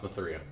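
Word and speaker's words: Ma3a: It's pronounced Mathria, not Maga. yes, it is pronounced Mathria.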